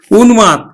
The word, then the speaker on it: উন্মাদ: এর তাহলে যুগম যুগ্ম তারপর দেখো দন্তন্য কে যেমন উন্মাদ দন্তন্য এর সাথে ম ফালা যুক্ত আছে এজন্য কিন্তু ম ফলার উচ্চারণটা হবে আমরা উচ্চারণ করবো কিন্তু উন্মাদ উন্মাদ দেখো এবার মূর্ধন্য